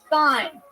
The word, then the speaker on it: thyme: Thyme, but with a TH. When you sound that shit out, it's like thyme. Like you have a lisp.